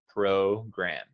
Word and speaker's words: program: just a sec yeah the o is the long o sound it sounds like the letter o program oh okay you're saying